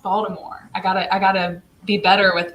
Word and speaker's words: Baltimore: Hey, I forgot that it's pronounced Baltimore. I gotta be better with my pronunciation of the city, right? Right. I think if you're from Baltimore, you don't pronounce that T so hard.